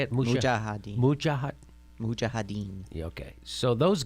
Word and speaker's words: Mujahideen: And of the Mujahideen. So there is, yes, there's Ronnie Big Head Reagan meeting with the Mujahideen. And is that how you say it? Mujahideen.